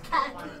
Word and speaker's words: Cacy: It's pronounced Cacy.